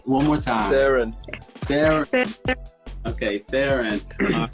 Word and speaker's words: Tharun: Tharun.